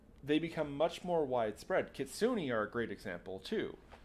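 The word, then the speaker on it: kitsune: a fox spirit and it's not kitsun kitsun the E makes the E makes a sound um they went from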